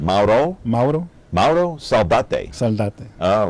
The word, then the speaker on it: Mauro Saldate: So what is the correct pronunciation? Mauro? Mauro Saldate.